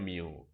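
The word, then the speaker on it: μ: Nah, misalnya, mu, ini bacanya mu.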